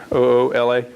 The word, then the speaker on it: Oola: Ula, like my hat, Oola.